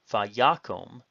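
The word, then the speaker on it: וַיָּקָם: Notice that the stress is on the yod, vayakom, and he arose.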